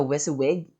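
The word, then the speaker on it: WYSIWYG: be HTML okay and and we follow the whis wig that's the pronunciation of this particular um group of uh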